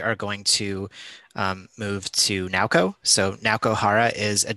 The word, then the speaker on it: Naoko: So hi, I'm Naoko, and it's pronounced the way it is written on the screen.